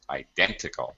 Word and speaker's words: identical: The stressed the stressed syllable is dent. Identical. Identical. As a matter of fact, because we have this suffix ical, this common suffix, this suffix dictates that the syllable in front of it has to have stress. Usually, there are exceptions.